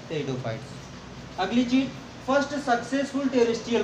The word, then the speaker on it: Pteridophyta: ठीक है, इसका जो प्रोनाउंसिएशन होता है वो होता है टेरिडोफाइट्स। प्रोनाउंसिएशन इसका क्या होता है, टेरिडोफाइट। यहाँ पे भी पी साइलेंट होता है, जैसे स्यूडोपोडिया में हम